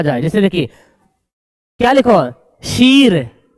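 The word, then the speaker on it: شیر: जैसे देखिए क्या लिखा शीर शीर नहीं शेर इसको बो शेर दलील नहीं पढ़ेंगे दिलेर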